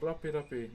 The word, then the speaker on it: rape: I just want you all to know that the English language has nothing to do with the Moldi language. Okay? Now the way you spell it is R a P R A P E. Okay? Moldi language, not English, Mi language. Just want to make that very clear.